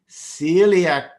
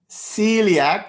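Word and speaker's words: coeliac: ah path well done celiac disease but who would have thought Celiac you don't even pronounce the O Celiac but it is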